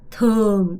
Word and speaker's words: thường: thường 이거 발음 잘해야 돼. 이 발음이 되게 중요한데요. 이 발음 sing 아니고요. swing 이 발음을 제대로 하셔야 돼요. thường swing.